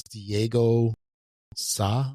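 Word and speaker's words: Diego Sá: And the artist on this is Diego Sa. I think that's how you say it. That's S-A, with a little symbol over it.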